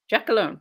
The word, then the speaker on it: Giacalone: Giacalone, right?